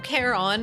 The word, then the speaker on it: Charon: It's pronounced Karen, like in English, or Karen. No, Charon in Greek is proper.